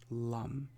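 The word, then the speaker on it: lam: The sound associated with this chakra is the seed sound lum, and you say it like this. Lum.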